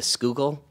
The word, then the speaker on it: Schuylkill: Schuylkill. Yeah. Because it's spelling, it doesn't look anything really like it sounds.